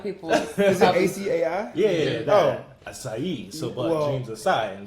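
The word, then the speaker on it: açaí: I mean, that's how I like to pronounce it, so I don't know. Is that how you pronounce it? Acai. Well, I say Asai. Asai. So, you know. I hear people say it like that, though. When I go to Starbucks, I say Asai, and they already know what I mean.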